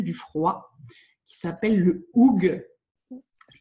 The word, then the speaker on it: hygge: Alors aujourd'hui, on va parler d'un truc venu du froid qui s'appelle le oug. Je prononce bien, Ophélie?